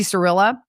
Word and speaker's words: Shirilla: Mackenzie Shirilla?